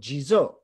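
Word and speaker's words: 地蔵: iconographic of this uh in japanese he's called jizo that's the japanese pronunciation of d zhang of those characters and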